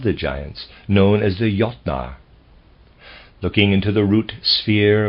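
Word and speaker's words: Jötnar: Readers aside, Jotnar is spelled J-O umlaut, T-N-A-R, and I'm pronouncing that Jotnar, probably is more accurate, end of readers aside.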